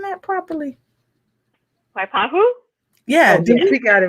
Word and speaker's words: Waipahu: ask you something was we saying but we pronouncing that properly waipahu yeah dude we got it right we got